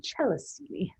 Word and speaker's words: Celestini: Our Celestini program, named for Celestini Hill, or I think I'm not saying it right. If I'm Italian, as Marconi was, it would be Celestini.